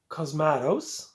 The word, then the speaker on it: Cosmatos: of a thriller uh directed by George P cosmatos I finally pronounced the last name right and you guys